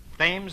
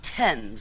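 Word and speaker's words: Thames: probably end it all by leaping into the fames River oh Mr Marx it's pronounced TS River that's what the stomach isn't I shall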